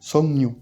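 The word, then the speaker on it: 석류: Ça va être songnu, songnu. Pourquoi? Parce qu'on aura déjà le kiuk devant le liul qui va se transformer en ng, et ensuite si on a un ng, le liul qui va se prononcer comme un yun, pour que ce soit plus simple.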